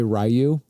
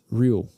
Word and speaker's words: Ryu: Yeah, no, most people say Ryu. It's Ryu.